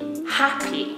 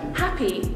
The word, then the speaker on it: happy: just want to be happy the stress in the two syllable word happy is on the first syllable you can make it